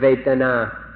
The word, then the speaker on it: vedanā: So we'd like to request, we implore you, in fact, to remember this word vedanā, vedanā, or in Thai, vedanā. It's spelled in Roman letters V-E-D-A-N-A, vedanā or vedanā.